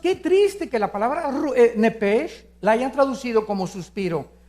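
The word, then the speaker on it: נפש: la palabra alma es nepes en el hebreo apúntalo nepes se pronuncia nepe porque la ch en hebreo es j nepe y la palabra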